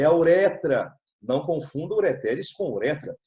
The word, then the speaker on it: ureter: Se escreve ureter, se lê ureter, mas não tem acento, tá?